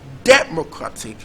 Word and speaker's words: democratic: So is it democratic, or is it democratic, or is it democratic, or is it democratic? So that's just it. So now the correctly stressed syllable in this word is actually the third syllable.